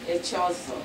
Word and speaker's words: Echeozo: Lady, how do you pronounce the last name? Echeozo. Echeozo.